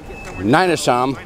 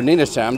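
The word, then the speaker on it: Nynäshamn: to go into the city of ninasham or Nina Sam depending on how you want to pronounce it you follow the green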